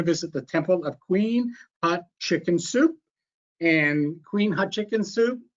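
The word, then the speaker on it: Hatshepsut: he said to me just think of a chicken soup and that's how you pronounce it so we're gonna visit the temple of queen hot chicken soup and queen hot chicken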